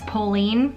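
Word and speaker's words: Polène: heard of this brand I heard pronounce Pauline which sounds about as American as it comes but in trying to do research I think it's like maybe pollen or I think I'm just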